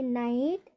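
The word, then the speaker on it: night: और दूसरा क्या है, AU और OU के उपरांत GH हो तो वहाँ पर भी GH का उच्चारण नहीं किया जाता है। जैसे नाइट, एट, thought, हाई neighbour.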